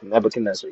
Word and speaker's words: Nebuchadnezzar: I don't know how to pronounce his name, but it's right there. Nebuchadnezzar? Yeah, Nebuchadnezzar, yeah.